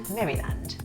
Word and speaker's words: Maryland: yeah like Jolly land Maryland so it's pronounced Maryland yeah been like Marilyn with the D on the end Maryland yeah sounds like